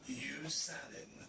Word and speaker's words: Hugues Sanon: My name is Hugues Sanon. Hugues Sanon. Hugues Sanon. Comment vous prononcez? Hugues Sanon.